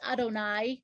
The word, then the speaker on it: Adonai: interestingly each letter of god's name pronounced adonai written yudhei the letter yud and